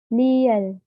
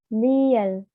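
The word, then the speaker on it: 리을: Lalu ada liel, liel, ini huruf R atau L.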